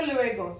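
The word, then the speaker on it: luego: ഇ എന്ന് പറഞ്ഞാൽ എ അപ്പൊ ലു എഗോ അസ്ത ലുവേഗോ സി യു ലേറ്റർ ഇവിടെ നമ്മൾക്ക് സി എന്നൊരു വാക്കില്ല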